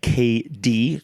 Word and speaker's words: KD: a left wing back KD Johnson. For anyone who doesn't know, it's KD like Kevin Durant, KD, pronounce the initials, KD.